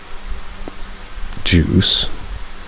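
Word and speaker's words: Juise: My great uncle Juice, spelled with a ju u I s e but pronounced like juice also lived there and he was really old about 80 probably.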